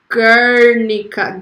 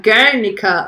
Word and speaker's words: Guernica: see what you're saying pronunciation is Guernica Guernica like that ah so that you